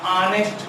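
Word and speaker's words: honest: इधर जो है आप जानते हैं एच इसमें साइलेंट होता है, एच इसमें साइलेंट होता है, तो इसको हम और या ऑनेस्ट पढ़ते हैं।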